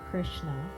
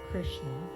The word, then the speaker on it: Krishna: We're going to go right into the Krishna Goinda Krishna Goinda. So usually we pronounce it Krishna Krishna in English. Um but the sound is more subtle than that. It's a lot of third position sounds which is uh a